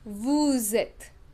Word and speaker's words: vous êtes: the last consonant, but in case of vous êtes, since the next word begins with a vowel, we pronounce the last consonant in vous. This is called the rule of liaison. Okay, that we pronounce the last consonant in vous. So it is vous êtes.